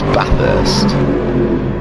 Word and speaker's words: Bathurst: care whereabouts is it's bathurst i'll say it like a northerner because i don't put an r in bath i say ba it's about b-a-t-h this